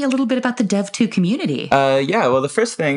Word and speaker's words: DEV: Can you tell me a little bit about the Dev2 community? Well, the first thing is that it's pronounced Dev2 and not Dev2 or Dev.2.